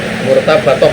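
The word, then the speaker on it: مرتبة: Itu saya ulangi bacanya, murtabatoh ya Bu. Ini irtibat, adanya irtibat. Tadi koreksi bacanya.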